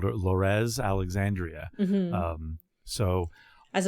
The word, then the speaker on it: Lorez: Even you were asking about pronunciation of her name being short for Dolores, Yeah. but I've always just called her Lorez Alexandria. Mhm. Um so As opposed to Lorez Alexandria, yeah.